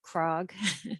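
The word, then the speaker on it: CRCOG: together um with with krog and um the Connecticut energy Network and pace so just a quick overview of the capital region Council of governments which we call krog second C is silent um we're a thousand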